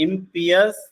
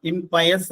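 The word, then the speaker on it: impious: ആണ് ഒന്ന് പ്രൊഫൈൻ മറ്റൊന്ന് ഇംപിയസ് സാക്രിലീജിയസ് കണ്ടോ നല്ല വേർഡ്സ് ആണ് ഒരുപക്ഷേ നിങ്ങൾക്ക് പരിചയമില്ലാത്ത വാക്കുകൾ ആവാം ചിലപ്പോൾ പരിചയമുള്ളതായിരിക്കാം second word I എം പി ഐ ഒ യു എസ് ഇംപിയസ് എന്നാണ് അതിന്റെ ഉച്ചാരണം ഇംപയസ് എന്നല്ല ഇംപിയസ് തേർഡ് വൺ സാക്രിലീജിയസ് സാക്രിലിസ്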